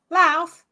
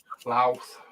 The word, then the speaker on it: Louth: Louth. Louth. You always know somebody from Lincolnshire because they pronounce it properly.